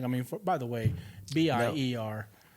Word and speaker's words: Bier: Ber, the German uh spelling is pronounced like the English Ber, right?